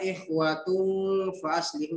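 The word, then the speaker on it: إخوة فأصلحوا: Jadi cara membacanya adalah ikhwatum fa aslihu.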